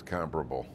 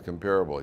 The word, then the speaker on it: comparable: My father said to me, the word is comparable. I said, no, it's comparable. He said, Kyle, you want to bet? So we bet, and then we looked up the phonetic pronunciation in the Webster's Dictionary. Comparable.